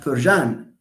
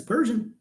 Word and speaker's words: Persian: the a of Persian the a of Persian is it pronounced when you say do we pronounce it no what you have written is something like persan we don't say persan it's Persian see no so it's written there but it's not it does not show in the uh pronunciation okay okay uh hope